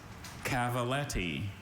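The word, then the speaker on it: cavalletti: Cavaltti.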